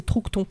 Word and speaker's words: Troughton: Excuse-moi, je te coupe parce que t'as mal prononcé, c'est Troughton.